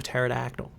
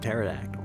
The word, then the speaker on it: pterodactyl: They actually used to pronounce the P in pterodactyl.